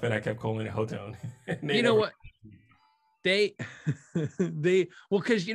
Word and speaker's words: Hotone: You play the Axe FX, you demo Axe FX, you use Axe FX, but also, you know, you promote like Hot One, you know, right?